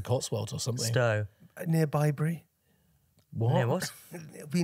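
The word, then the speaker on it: Bibury: I think you've mispronounced Bybury. It's Bybury. Bybury? Yes, Bybury.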